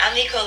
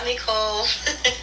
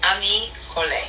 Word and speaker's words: Ami Cole: Miss Jada, and Ami Cole is named after my mother, but 4 syllables, not Ami Cole. I've heard it all, but just Ami Cole.